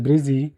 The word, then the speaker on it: Brissy: While in Brisbane, which is affectionately called Brissy, pronounced Brizzy in Australia, I noticed that new attachments are similar to spider webs in that they are thin and sticky.